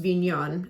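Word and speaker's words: Vinhão: It's V-I-N-H-A with a tilde over it, O, and it's pronounced Vignon as far as I can tell.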